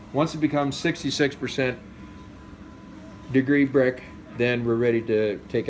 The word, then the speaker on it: Brix: Now brick is spelled B-R-I-X, not the chimney brick, not a house brick.